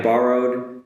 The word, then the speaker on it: borrow: Just on the pronunciation, the borrow does have the R's in the middle. Borrow. So first on the ba and then the ro.